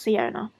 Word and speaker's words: Siona: Our main character, Siona, I think it's pronounced Siona.